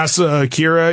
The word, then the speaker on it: Asa Akira: You know Asa Akira, I think is how you say her name? Yeah, Asa Akira.